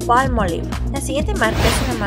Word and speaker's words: Palmolive: No sigas pronunciando Palmolive, la palabra correcta es Palmolive.